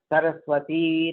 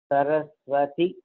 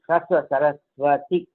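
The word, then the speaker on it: सरस्वति: Saraswati Namastubhyam, wrong. Saraswati Namastubhyam Varade Kamarupini Vidyarambham Karishyami Siddhir Bhavatu Me Sada. So it's not Saraswati Dirgha, it is Saraswati. So these are some of the points.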